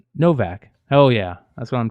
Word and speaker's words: Novak: BJ Novak says, you actually pronounced it right. Novak.